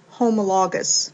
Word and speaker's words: homologous: 2 chromosomes of a pair, they are called homologous chromosomes or homologs. I've also heard this pronounced homologous, so homologous chromosomes, tomato, tomato.